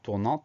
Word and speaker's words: tournant: Donc ça nous fait nous souvenir de la présence de ce T muet à la fin du mot.